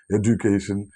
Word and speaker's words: education: വിദ്യാഭ്യാസം എന്നതിന് ഇംഗ്ലീഷിൽ പറയുന്ന ഈ വേർഡിന് 6 പ്രത്യേക ഉച്ചാരണങ്ങൾ മലയാളത്തിലുണ്ട്. എഡ്യൂക്കേഷൻ, എഡ്യൂക്കേഷൻ, എഡ്യൂക്കേഷൻ, എഡ്യൂക്കേഷൻ, എഡ്യൂക്കേഷൻ, എഡ്യൂക്കേഷൻ എന്നിങ്ങനെ 6 പ്രത്യേക രീതികളിൽ നമ്മൾ എഴുതുകയും പഠിപ്പിക്കുകയും പുസ്തകങ്ങളിൽ പ്രിന്റ് ചെയ്യുകയും ചെയ്യും.